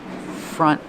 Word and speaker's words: front: Front desk. Pronunciation. Use the short sound uh uh like cup and up. Front. Front desk. Use a stop T for front. Do not release the sound.